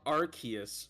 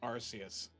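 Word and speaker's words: Arceus: just a moment okay Legends archus shouldn't be arus please don't say archus I don't know why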